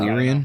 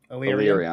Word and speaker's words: Illyrio: No, Illyrian? that's wrong. Illyrion. That's good.